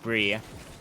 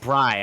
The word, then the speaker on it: Bree: We see Bree over to Kyler. I believe it's pronounced Bry.